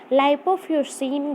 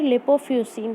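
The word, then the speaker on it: lipofuscin: लाइपोफ्यूसिन या फिर लिपोफ्यूसिन, pronunciation difference होता है, कुछ लोग लाइपोफ्यूसिन बोलते हैं, कुछ लोग लिपोफ्यूसिन बोलते हैं।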